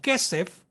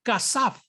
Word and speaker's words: kasaf: nosotros entendemos tradicionalmente como kesef, no se pronuncia Kesef en el sistema babilónico, sino que se pronuncia Kasaf.